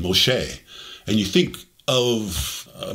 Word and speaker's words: Moshe: when you look at the hebrew pronunciation moshe and you think of